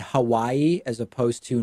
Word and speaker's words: Hawaii: I made an effort to say Nevada and Hawaii as opposed to Nevada and Hawaii and that's it i